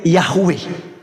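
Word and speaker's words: Yahweh: langit dan bumi adalah Yod he W he yang di kita kenal sebagai yahwewe ya kita bacanya sebutnya yahwe Nah jadi teman-teman sekalian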